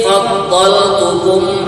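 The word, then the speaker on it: فَضَّلْتُكُمْ: Bisa diperhatikan dalam huruf dhad itu ada isyarah tasydid ya. Itu bacanya faddha. Wa anni faddaltukum 'alal 'alamin.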